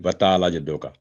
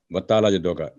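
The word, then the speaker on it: وَتَعَالَىٰ جَدُّ: वताला जद्दों का ये गलत है, इसका अंदाज वताला, क्योंकि आइन पर फतह है और 7 अलिफ है, तो 2 सेकंड की आप लंबी आवाज होगी। और उससे लाम पर खड़ी ज़बर वर्टिकल फतह है, तो वो भी 2 सेकंड, वताला जद्दू का।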